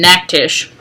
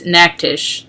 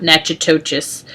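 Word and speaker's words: Natchitoches: the game that we play between us and Mac Tisch which that's how you pronounce it by the way is an act ish not nacho-cheese um so we've had this statue since 1960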